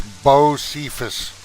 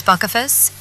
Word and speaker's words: Bocephus: Celestrah, you pronounce my name Bocephus. It's Bocephus. Smirks Buckaphus.